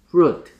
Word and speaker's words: flute: 자, 얘는 으 소리가 아니고 얼 소리니까 혀가 뒤로 말려 들어가야 된다니까. flute. flute. flute. 그리고 flute 그 소리는 윗니가 아래 입술을 스쳐야 된다니까.